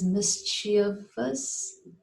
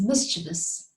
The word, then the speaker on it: mischievous: Yes, I've heard it being pronounced as mischievous, something like that, but it isn't like that. It is mischievous.